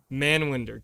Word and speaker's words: Manwinder: god man wonder man winder how do you pronounce it man wonder that is my full name man winder gotcha okay i gotta ask uh the punjabi